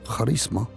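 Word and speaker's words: χάρισμα: Pero los dones, ese carisma como se pronuncia en griego, charisma, se recibe con el nuevo nacimiento.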